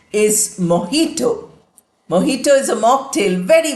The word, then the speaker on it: mojito: It is the sound of her, the English her sound, H sound.